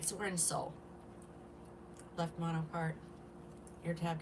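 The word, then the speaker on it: Seoul: And this is Soul. It's spelled S-E-O-U-L.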